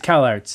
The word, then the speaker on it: Kallax: It's Kallarts is actually how it's pronounced.